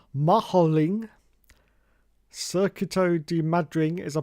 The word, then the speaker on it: Madring: Mad Ring. There you go. That's what Shane's talking about. Here we are. Cool. That's That's so bright. That's so bright. Jesus. The Mad Ring. Spanish pronunciation. Maholing.